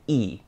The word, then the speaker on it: y: you see it alone, just a little old Y all alone, it's actually the word for and. So when you wanna say and in Spanish, just say E.